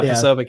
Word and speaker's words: Posobiec: And she did not like that Jack Posobiec, is that how you say his name? Yeah, Posobiec, yeah.